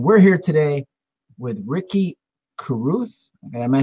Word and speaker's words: Carruth: And we're here today with RIcky Carruth.